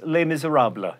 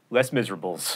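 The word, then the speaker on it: Les Misérables: to the salon to discuss les miserables not less miserables thanks for watching mental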